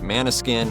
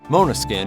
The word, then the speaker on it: Måneskin: and that one out and while often publicly pronounced like Mana skin or man skin that's incorrect it's the Italian mispronunciation yeah and it means like um aggressive aggressive yeah in Italian Mona skin is the correct pronunciation as explained by guitarist